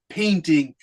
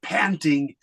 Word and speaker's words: painting: great and everything but you have to pronounce that word painting because you said panting panting is a little bit different than painting but if you want